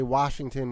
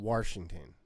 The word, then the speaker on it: Washington: The people that say Washington with an R in it. Mm-hmm. Washington.